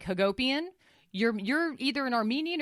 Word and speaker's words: Hagopian: guys who know Armenians if your last name rhymes with Armenian like Hagopian you're you're either an